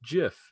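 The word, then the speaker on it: GIF: the audience was like it's pronounced jiff because it's an acronym and the guy that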